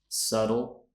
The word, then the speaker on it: subtle: all correctly okay they are Island debt knee subtle knife thumb known ballet and mortgage did you